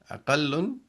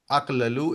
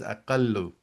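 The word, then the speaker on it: أَقَلُّ: As you see, aklalu will not be pronounced as aqlalu, it will be pronounced as aqallu because the two letters are same, so you will actually combine them together. So you will not pronounce aqlalu, you will say aqallu.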